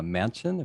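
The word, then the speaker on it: Manchin: still in there but joe uh mansion that's that yeah that's how you pronounce it he doesn't want to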